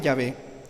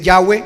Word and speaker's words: Yahvé: Algunos dicen Yahweh, mal pronunciado, rechace eso. Yahweh no es la pronunciación correcta, no existe la W en hebreo, se lo aseguro, no existe la W en hebreo, por favor.